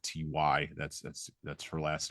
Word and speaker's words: Welty: And I'm going to keep probably mispronouncing her name. It's Welty. But I tend to reverse the L and the T and the Y, so forgive me, folks. But it is Welty.